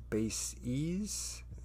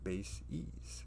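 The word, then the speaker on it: bases: Subspace w and again the plural of the word basis is base ease pronounced base ease long e so formal definition of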